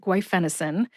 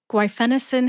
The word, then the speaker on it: guaifenesin: mind if you are new to the word guenin after you finish listening today I recommend that you practice saying guen until you master it repetition is the key to Mastery guenin has four syllables gu which rhymes with qu